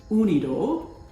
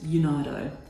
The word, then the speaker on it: UNIDO: I heard it pronounced the European way, which is UNIDO, and another way I've heard it pronounced is UNIDO.